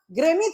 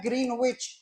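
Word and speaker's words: Greenwich: जीएमटी जीएमटी का मतलब अब भले लोग उच्चारण करता है ग्रीनविच लेकिन ग्रीनविच उच्चारण नहीं होता। सही उच्चारण होता है इसका ग्रेनेच।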